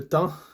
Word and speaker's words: temps: C'est le temps. You could say that. It's time, right, in French, but there should be an S here. You don't pronounce it.